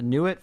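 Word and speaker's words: Nuit: the is it the new it formula I guess how to pronounce it n ui t yeah new it new it's the Egyptian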